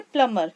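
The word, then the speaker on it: plumber: इसको इसको हम खोलेंगे प्लंबर क्योंकि इसमें जो है वह साइलेंट होता है अगला निशाना इस लास्ट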